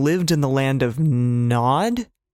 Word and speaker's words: Nod: So Cain went out from the Lord's presence and lived in the land of Nod or Node. I'm pretty sure Nod. Nod is usually how it's said.